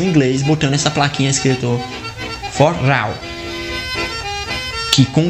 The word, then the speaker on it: forró: botando essa plaquinha escrito forró, que com o tempo algumas pessoas começaram a pronunciar forró, foral, até virar o famoso forró.